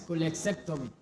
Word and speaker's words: cholecystectomy: Okay, so it's cholecystectomy.